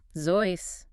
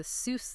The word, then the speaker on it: Seuss: Zois, rhyming with voice.